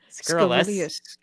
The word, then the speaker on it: scurrilous: It's scurrilous. There's no Skrillex. There's no extra syllable.